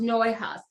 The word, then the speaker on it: Neuhaus: It's pronounced Neuhaus.